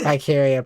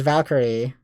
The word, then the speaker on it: Valkyrie: I think it's Valkyrie Profile because it was Valkyria Chronicles. That's why I keep messing it up. Because the two, despite the fact that I know it's pronounced Valkyrie, it just like because